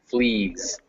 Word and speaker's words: fleas: that even in fleas even though it's spelled with an s it's pronounced like a z flees what is yeah yeah